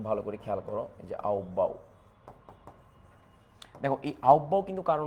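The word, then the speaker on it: Aufbau: এই এক নাম্বার এক নাম্বার হচ্ছে আউববাউ নীতি। একটু ভালো করে খেয়াল করো। এইযে আউবাও দেখ এই আউববাউ কিন্তু কারো নাম না।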